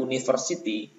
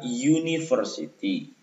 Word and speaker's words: university: Tapi bacanya bukan university, melainkan university. Maka kalau kita baca telaah university, huruf awalnya itu U, tapi bunyi awalnya Y.